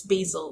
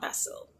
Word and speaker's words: Basil: Also, apparently I've been pronouncing Basil's name wrong this whole time. So please ignore the fact that in the earlier video, I pronounced his name wrong. It's Basil, not Basil. So, Basil.